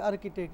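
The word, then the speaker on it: architect: অনেক হ আর্কিটেক্ট এইযে আর্কিটেক্ট এই শব্দটা এই সিএইচ কর উচ্চারণ হইছে এগুলো একটু মনে রাখবেন ম্যানেজার একাউন্টেন্ট বিজনেসম্যান এন্ট্রিপ্রেনার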